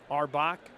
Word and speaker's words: Auerbach: 1-1 to Arbach. Brett Arbach. It's spelled like Auerbach, but not pronounced like that.